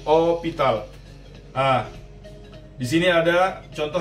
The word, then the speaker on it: hospital: Yang bikin beda, H ini spesial. H ini kita nggak sebutkan, kita nggak pronounce. Contohnya ada hospital. Hospital. Hospital. Bahasa Inggrisnya sih hospital, ya. Kita sebut H-nya. Tapi di mereka nggak nyebut H, jadi hospital.